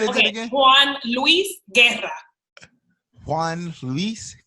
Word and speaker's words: Guerra: Juan Luis Guerra. Juan Luis Guerra. I felt like I was spot on. No, Guerra.